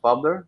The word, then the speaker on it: Publer: By the way, it's pronounced Publer, so it's short for publisher because that's what he basically does.